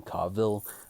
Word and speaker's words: Coville: alien by Bruce Coville some people pronounce his last name Cavill I grew up calling him Bruce Coville um I picked up